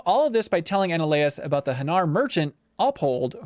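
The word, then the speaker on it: Anoleis: How do you pronounce that one again? Ananias.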